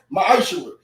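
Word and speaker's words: מעשר: Means tenth in Hebrew, and it's pronounced ma'ashura.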